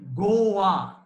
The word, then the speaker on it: Goa: she came to be known as goa g o a to rhyme with lish boa lisboa is lisbon that is the portuguese capital and since they were